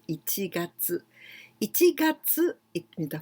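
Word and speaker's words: 一月: ichi, and this one, we pronounce in this way, ichi gatsu. Gatsu, here, getsu, tsuki, gatsu, but here we must know that this is the pronunciation of ichi gatsu.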